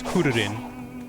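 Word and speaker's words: クリリン: Krillin's name fucks me up in Japanese because it's Kuririn. Well, how do you say Goku?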